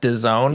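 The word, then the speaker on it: DAZN: No I just learned this week that it's pronounced Doone yeah that's the worst so so in Canada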